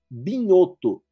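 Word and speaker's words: Bignotto: Um que é de um pensador mineiro chamado Newton Binhoto, se escreve Bignoto, que se chama O Brasil à procura da democracia.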